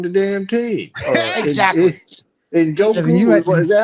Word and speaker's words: Njoku: And Njoku, is that how you say his name? Yeah, David Njoku.